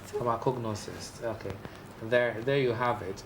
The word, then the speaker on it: pharmacognosist: Pronounce it again? Pharmacognosist. Pharmacognosist.